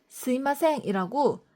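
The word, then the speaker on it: すみません: 스미마생은 죄송합니다라는 의미인데 실제로 일본에선 스미마생이라고 미를 정확히 발음하기보다는 스마생이라고 뭉개서 많이 하시더라고요.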